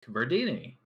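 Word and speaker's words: Virdini: Lake Verdini.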